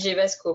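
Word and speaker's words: GEVA-Sco: gevasco gevasco ou gevasco je sais même plus comment on prononce gvasco on dit gvasco mais c'est un guideas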